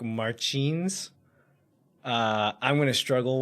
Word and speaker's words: Martins: and I think the bra like the Portuguese pronunciation is more like phelipi and then the last name is like Marin uh I'm going to struggle with that one